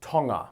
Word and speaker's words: Tonga: Alright, first off, it's pronounced Tonga, not Tong-a.